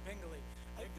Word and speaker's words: Bingley: Yeah, Bingley. Those middle school kids, when I was principal, when people would visit, they knew it rhymed with jingle, so they would always tell them that.